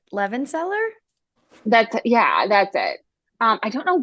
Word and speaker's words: Levenseller: I think it's Levenseller.